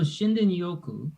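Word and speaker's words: Shinrin-yoku: So Shinden Yoku Shinden Yoku.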